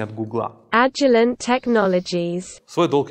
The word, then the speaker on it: Agilent Technologies: Ну вот вам правильное, в общем, произношение от Гугла. Agilent Technologies.